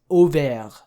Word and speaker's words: Auvergne: But this is Auvergne.